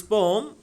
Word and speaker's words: poem: तो देखिए जरा, फ्रॉम दिस पोम, देखो पोयम को हम पोयम बोलते हैं लेकिन इसका शुद्ध उच्चारण क्या है? पोम।